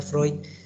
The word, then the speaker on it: Freud: psicosexual del doctor bueno se escribe pregón se pronuncia freud si se acuerda no irse a la